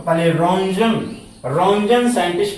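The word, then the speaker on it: Roentgen: थोड़ा सा ध्यान दीजिएगा रंजन की स्पेलिंग पर आर ओ ई एन आर ओ ई एन और यहां भी बच्चों टी आ रहा है ये भी साइलेंट होता है आर ओ ई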